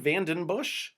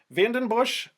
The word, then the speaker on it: Vandenbussche: Vandenbush, I just think of those commercials cracking open a beer when I hear the last syllable of his name. Bush.